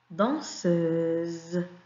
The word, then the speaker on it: danseuse: Danseuse. Et regardez bien, la lettre S est entre deux voyelles. On la prononce Z. Danseuse.